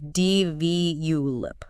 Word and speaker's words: develop: I hear develop quite a bit. That's a classic. But the stress is actually earlier. It's more like D-V-U-lip.